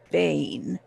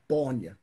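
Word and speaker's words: Báine: Everybody calls me Bane, but it's spelled B, accented A, I, N, E. Bonya.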